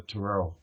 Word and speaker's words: tarot: I think because I took French, I call it the tarot, and it's a French word.